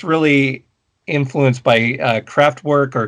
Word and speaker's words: Kraftwerk: craftwork or croft burke i'm never sure if i'm supposed to say it uh the way it would look to my american eyes or if i should pronounce it the way florian schneider would have pronounced it uh you gotta say like florian rossi's gonna okay all right then croft park um thank you so